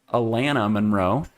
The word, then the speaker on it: Alana Monroe: So the first one is from Alana oh no, actually I pronounced her name last time wrong. It is Alana Monroe.